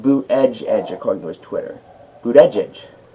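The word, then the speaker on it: Buttigieg: the line every record it's pronounced boot edge and Chicago's Twitter boot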